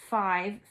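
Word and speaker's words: five: I took my new fishing pole to catch 5 fish. Well, I see a silent E there, a sneaky E. So pole and another sneaky E, 5.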